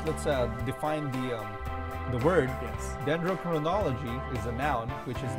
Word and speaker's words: Dendrochronology: No, Dendrochronology. There you go. Let me spell it first.